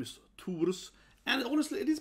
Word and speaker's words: Thor: In Swedish and Danish and so on, and Norwegian, you say Thor, sort of Thor, right? So it's a little different pronunciation, yeah, Thor. We don't have the H, right? So it's just Thor.